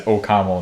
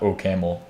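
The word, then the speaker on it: OCaml: and they say, "Ol, they say it as Okaml, not Omelamel to me."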